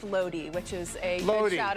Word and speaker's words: Lodi: thank you and then someone else said it's pronounced Lodi which is a little shout out to uh